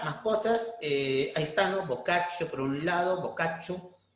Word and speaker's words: Boccaccio: Giovanni Boccaccio, ¿no? Así se pronuncia, Boccaccio, va a tener su obra de Cameron, ¿no?